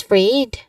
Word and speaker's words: afraid: And also the second syllable on afraid, you emphasize afraid.